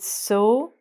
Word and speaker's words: sew: But the pronunciation of these two words are exactly the same.